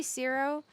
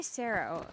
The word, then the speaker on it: Sero: Is it Do I It's supposed to be Sero. I say Sarah.